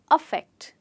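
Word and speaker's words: affect: अब देखते हैं हमारा अगला वर्ड, ये है अफेक्ट। जी, ये है इफेक्ट और वो है अफेक्ट। इनकी प्रोनाउंसिएशन में अंतर सिर्फ ई और अ का है, ऊपर वाले वर्ड्स की तरह। तो ये वर्ड है अफेक्ट।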